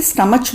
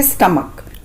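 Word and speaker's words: stomach: पेट को बोलते हैं स्टमक। स्टमक। कुछ लोग इसे स्टमच बोलते हैं, लेकिन इसका सही उच्चारण यानी कि सही प्रोनाउंसिएशन है स्टमक।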